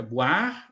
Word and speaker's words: boire: Você vê um O e um I, e a pronúncia não é oi, é o, a, o a, né?